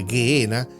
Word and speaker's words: Gehenna: Ahora, la palabra griega Gehenna, pronunciada Gehenna, se deriva del hebreo Gehinón o el valle de Tofet, como anteriormente en la primera parte vimos.